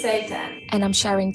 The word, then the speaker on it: seitan: It's Seitan.